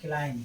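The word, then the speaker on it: climb: क्लाइम, क्लाइम माने क्या होता है, चढ़ना, यहाँ पर क्या है, एम बी के पहले आया है, इसलिए यहाँ पर बी भी साइलेंट रहेगा।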